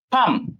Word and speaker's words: palm: পাম, এটা কিন্তু PALM, এই যে এই এল, দিস এল ইজ সাইলেন্ট।